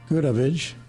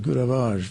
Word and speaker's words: Goodavage: Her name is Maria Goodavage, if that is correct. Is that correct? That's pretty good. Pretty good. Okay. Because it's French, I would have pronounced it Goodavage. But I like that better.